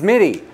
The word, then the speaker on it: Mitte: the film RJ Mike no one ever says his name right did I say it wrong it's midi yeah oh good I'm